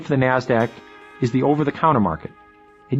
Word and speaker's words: Nasdaq: stock exchange nyse and the nasdaq which is pronounced nasdaq nasdaq stands for the national association of securities dealers